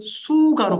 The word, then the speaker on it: 수가: 거의 비슷해요, 발음이. 근데 수가로 바뀝니다.